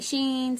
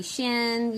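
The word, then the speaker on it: Shein: Some people say Sheen. Some people say Shen.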